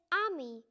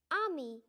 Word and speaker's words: ami: you say friend in french the word is ami my mom says you're saying like this ami i'm not french everything that night i tell